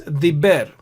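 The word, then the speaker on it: דִּבֶּר: must be read as diber. Earlier it is davar, the ver sound. Here it is ber sound because of the dagesh, diber, which means he spoke in the third person, masculine.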